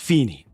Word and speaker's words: Feeny: Just Feeny. Feeny. Okay. Like Phoenix, but Feeny.